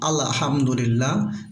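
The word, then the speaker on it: الحمد لله: আলহামদু অনেকে এখানে আমরা আল্লাহ এরকম বলে থাকি, যেমন আলহামদুলিল্লাহ, এটা ভুল। আমরা চেষ্টা করব হাটা হচ্ছে আমাদের কণ্ঠনালীর মধ্যখান থেকে উচ্চারণ হবে আলহামদুলিল্লাহি।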